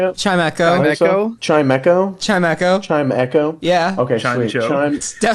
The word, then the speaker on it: Chimecho: Yeah, Chimicho. How do you say it? Is that how you say it? Chimecho. Chimecho? Chimecho? Chimecho. Chime Echo?